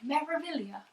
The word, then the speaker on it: Meraviglia: Yeah, it took me a while to pronounce Meraviglia, and I don't think you can say it without an Italian accent, like Meraviglia.